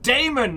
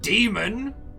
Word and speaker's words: Damon: at the beginning that no no it's pronounced damon not demon one of those jokes